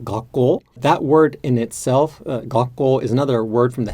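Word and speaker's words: 学校: And so the proper way to say that in Japanese would be gakko, with basically a more or less flat pattern that has an inflection at the end of it.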